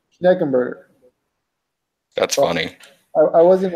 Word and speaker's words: Schneckenberger: It's let me spell it for you. It's SCH NCKEN B as in boy URGER. You say that? Schneckenberger.